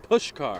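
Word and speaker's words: Puskar: neither Milan push car push car push car I don't know how you get that out of the spelling there but it's Milan push car Stadium blame Eastern Europe there you go I've been saying it wrong my entire life 6 p.m central time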